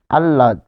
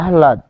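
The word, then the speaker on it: আহ্লাদ: ফলে শুরুতে আমরা যদি বলি যে আহলাদ তাই না আমরা কি বলি আল্লাদ আল্লাদ ছেলেটিকে আল্লাদ দিয়ে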